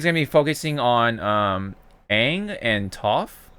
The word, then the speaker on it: Aang: It looks like, I don't know, but it is with Aang, so obviously it's not it's not brand new. You're pronouncing his name wrong. It's pronounced Aang. Yeah, according to M. Night Shyamalan.